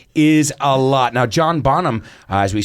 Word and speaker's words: Bonham: En inglés, John Bonham. la H se pronuncia como es silencioso, ¿no? John Bonham.